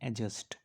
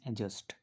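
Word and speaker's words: adjust: ये जो वर्ड है इसको पढ़ते हैं एडजस्ट, ये जो डी होता है ये साइलेंट होता है, इस वर्ड को पढ़ते हैं एडजस्ट।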